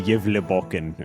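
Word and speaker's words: Gävlebocken: It's actually pronounced like the Yevleboken or something like that.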